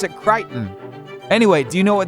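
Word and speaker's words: Crichton: I always thought Kitchen. I thought you pronounced it that way, but according to Google, you pronounced it Kiton.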